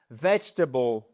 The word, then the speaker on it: vegetable: V ça va sur le les trois premières lettres. Vegetable.